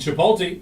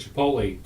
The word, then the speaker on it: Chipotle: that was pretty cool this says it is pronouncedly c-h-u-h uh p-o-w-t yep healthcare workers are the perfect Chipotle customers if you think